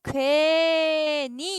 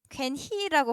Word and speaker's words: 괜히: 뭔가 너네가 어 괜니 이렇게 발음되는 거 아니에요? 이렇게 생각을 했을 수도 있는데 괜히 뭐 히 탈락하고 니은이 들어오나? 아니야. 괜히는 얘들아 괜히로 발음하면 돼. 어. 아 괜히 그랬어. 이런 것 때문에. 근데 괜히는 괜히라고 발음합니다.